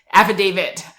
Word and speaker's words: affidavit: I'll say it again so affidavit like a feh David is what people are saying instead of Dave it like yeah with the T at the end it's